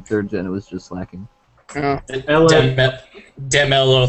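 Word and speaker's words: Slaking: It paralyzed my Slake King, though, so that's not good. What do you got here? Ghostliness. Hammer arm that. It's obviously pronounced slacking.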